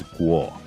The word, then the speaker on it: Kuo: His last name is spelled Kuo, but in reality, its original pronunciation is Guo.